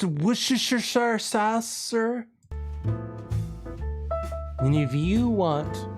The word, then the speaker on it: Worcester: joining me now Jim it's pronounced wer sir Sasser and if you